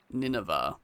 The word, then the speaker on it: Nineveh: Nineva, that's how it's pronounced.